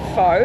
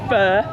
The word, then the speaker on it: Phở: f f fo so obviously it's not Foe and I do call it that sometimes by accident even though I've been eating fur since 2003 um and I'll tell